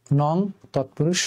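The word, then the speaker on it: নঞ্ তৎপুরুষ: তাহলে ন ভাব অভাব, নং তৎপুরুষ সমাস। উচ্চারণটা হয় নং তৎপুরুষ সমাস। অনেকে আপনারা নয় নঞ্চ নানান রকমের উচ্চারণ আমি শুনেছি, এর এক্সাক্ট প্রনাউন্সিয়েশন হচ্ছে নং তৎপুরুষ।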